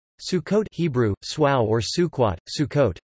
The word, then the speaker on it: Sukkot: Sukkot Hebrew, Swau or Sukkot, Sukkot, commonly translated as Feast of Tabernacles, traditional Ashkenazi pronunciation Sukkos or Sukkos, also known as Chag